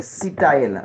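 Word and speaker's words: Sitael: Sitayel s'écrit. Hein, S-I-T-A-E-L, Sitayel.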